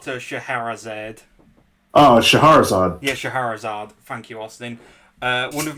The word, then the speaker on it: Scheherazade: I cannot pronounce this character's name. Say hello What? to Scheherazade. Oh, Shahrazad. Yeah, Scheherazade.